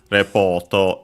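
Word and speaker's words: レポート: As a reminder, as usual, Repoto is accented on the po, just like in English, but of course for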